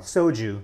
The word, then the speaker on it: soju: Soju. Yeah, so it was S-O-J-U? S-O-J-U, which is the Korean pronunciation.